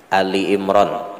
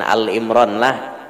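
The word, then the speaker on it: آل عمران: “Ali Imran,” bukan “Al Imron.” “Ali Imran” itulah bacaannya. "Ali Imran." Ada yang membacanya sebagai "Al Imron," bukan itu maksudnya.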